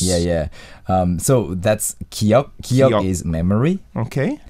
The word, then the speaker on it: 기억: 기억들이 생각나. 기억들이 생각. 기억 is like a memory, right? Yes, 기억 is memory. It also has the same pronunciation as the first character of Hangul.